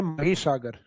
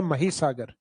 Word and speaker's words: महीसागर: हालांकि English title तो वो माही लगता है अपने को क्योंकि स्पेलिंग वही है माही। लेकिन उसका हिंदी प्रोनाउंसिएशन लिया गया महीसागर। तो अपने को महीसागर ही याद रखना है।